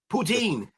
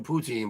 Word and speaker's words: poutine: protein or proton how do you say that poutine poutine poutine supposed to be delicious supposed to